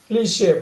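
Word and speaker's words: cliché: சார் கிளிட்ச். கிளிட்ச் வந்து அப்படி சொல்லக்கூடாது. பாருங்க, Cliche. கிளிஷே போட்டுங்க. கிளிஷே.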